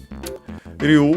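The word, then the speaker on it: 竜: Ryu, which is uh the Japanese word. Actually, it's the Chinese pronunciation, but yeah, makes sense.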